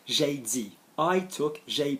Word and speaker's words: dit: Okay, moving on to number 4, then still on verbs, is silent consonants on the ends of verbs. Normally the present, but mainly the past. So, I said, j'ai dit.